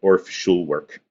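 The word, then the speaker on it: Orff-Schulwerk: Um so if I was going to use the really like super precise German pronunciation, I would say orfull. Here in the United States, we call it Orf Shulwork because that's what it looks like.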